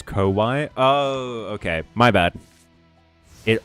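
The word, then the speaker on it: こわい: Close, but scary is pronounced as Kowai.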